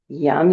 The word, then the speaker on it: yam: The seed syllable is yam, Y-A-M. Put your mind inside your central channel. Yum, yum, yum, yum, yum, yum, yum.